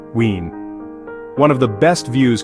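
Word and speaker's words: Wien: But the grandest of them all is Austria's capital, Vienna, or as the locals say, Wen.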